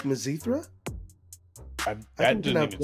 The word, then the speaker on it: Mizithra: is Elon Musk like mazithra that didn't even sound edible purethra and we all know how that went for you so the zithra rhymes with urethra that is the longest